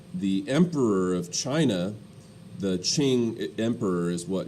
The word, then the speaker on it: Qing: emperor of china the qing emperor is what it's spelled q-i-n-g but it's pronounced ching emperor and uh the